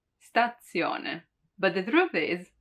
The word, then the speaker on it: stazione: actually the letter zed it's often heard as a double one like in stazione stazione it really seems like there are two dead right statzione but the truth is